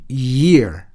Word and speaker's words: year: 그래서 이것도 yes처럼 ear, 앞에 것은 ear, 뒤 것은 year, 그렇게 발음하는 것입니다.